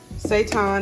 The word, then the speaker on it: seitan: I really don't know what to expect because typically when we cook, seitan is how you pronounce it, to make substitute meat dishes, you have to steam it.